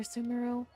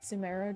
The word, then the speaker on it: Sumeru: Or Sumeru? I pronounce it Sumeru just because I got corrected so many times when I first heard about the region's release.